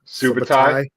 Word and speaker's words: Subutai: painting of Conan, Valeria, and how do you pronounce the other guy? Subutai.